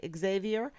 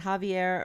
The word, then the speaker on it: Javier: But we might say Xavier. But I know you pronounce it Javier Rodriguez, and you can find him in San Antonio.